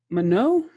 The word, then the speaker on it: Manon: Mano, did I say it right?